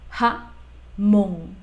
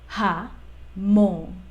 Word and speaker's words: jamón: Ja mon Ja mon Recuerda que cuando nosotros estamos pronunciando la J en español Yo te recomiendo que intentes pronunciarla como la eji de portugués es esa forma como absorbida de la letra que hace que sea un poquito más hacia la parte más de garganta como que absorber aire y decir ja